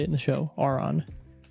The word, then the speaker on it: Aron: watching the Pokemon anime is I've been mispronouncing Aaron my whole life. It's not Aaron, it's Auron. That's how they say it in the show. Auron, not Aaron.